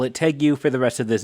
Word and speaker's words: tegu: of me anyways but I was under the impression that you pronounced that word as Tegu but it seems that the more conventional way of saying it is Tegu I guess I don't I don't really know or or maybe both pronunciations are accepted I don't really know